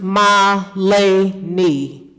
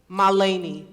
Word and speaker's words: Milani: delay um good evening my name is pronounced Malay knee Milani thank you this poem that